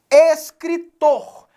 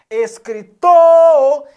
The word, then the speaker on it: escritor: Escritor. Escritor. Então, o tor é a sílaba tônica. Está acentuada? Claro que não.